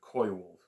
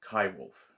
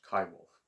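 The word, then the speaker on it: coywolf: wolf hybrid so or uh as david suzuki mispronounces the name koiwolf uh it's kai wolfe if you're going to pronounce it with a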